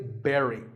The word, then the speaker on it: buried: an important person is buried we say berry now when i first